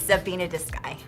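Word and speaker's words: Tsébiinidzisgai: Can you do a real quick lesson on how to pronounce the name of your elementary school? I can try. Okay. It's Sabina de Sky. Sabina de Sky.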